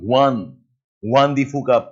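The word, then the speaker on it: Juan de Fuca: Juandi fuka plate that slip. Yes, you write with J but pronounce as Y. One fuka plate.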